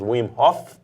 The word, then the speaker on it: Wim Hof: Em Portugal se fala Wim Hof. No Brasil nós pronunciamos o H, então falaremos Wim Hof, Exato. é o que seja, né? Se você não conhece. E supostamente em holandês deveríamos dizer Wim Hof.